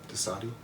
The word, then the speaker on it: Dosadi: that Dosadai? Yep. Dosadi? That's how you say it.